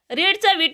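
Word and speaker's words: read: story रियाने वाचन केले रीडचा आहे रेड स्पेलिंग सेम आहे पण प्रोनान्स आर एडी च रेड अस प्रोन्सशन आहे रिया रेड आम्ही खेळलो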